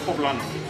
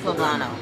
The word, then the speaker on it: Poblano: up too much y'all how do you pronounce it poblano poblano it's like the pepper y'all so I had